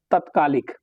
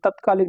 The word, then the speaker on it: तात्कालिक: सही वर्तनी क्या है, तत्कालिक, क्या है, तत्कालिक। अब इसको आप पढ़ेंगे, अगर इसका प्रोनाउंसिएशन सही करेंगे तो ये तत्कालिक नहीं, ये तात्कालिक होता है।